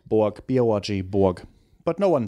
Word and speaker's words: Borg: Flula, how do you pronounce your last name? Borg.